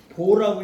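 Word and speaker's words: 父: 이름은 행부 단일행 지아비부 근데 이름자로 쓸 때는지 아니 아비 부자를 보라고 읽습니다 보 아비 부자를 부라고 읽지 않고 이름으로 쓸 때는 부자는 아버지 부자의 뜻인데 이름자로 쓸 때는 이름자로 쓸 때는 뭐라 그래서 여기는 여기는 행보 단일행 이름 보 행보 보 이제 계문자 노나라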